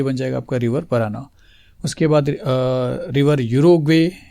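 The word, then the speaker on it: Paraná: थोड़ा सा प्रोनाउंसिएशन आप समझिए स्टूडेंट्स, रिवर पराना।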